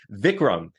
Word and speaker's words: Vikram: to say it anyway vicam is the correct way to say your name that's right brother that's